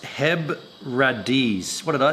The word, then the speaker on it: Hebrides: single malts come from that they're making it's pronounced HEB radis what did I say I said hebrids it's pronounced hebbradis Hebrides Hebrides cool cool cool I like it